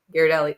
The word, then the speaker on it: Ghirardelli: Well, the Gear, or is how it's pronounced, Ghirardelli? Ghirardelli, that one.